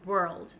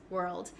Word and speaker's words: world: you could do is break down the word and say were first and then to get the L Sound we're all maybe you can add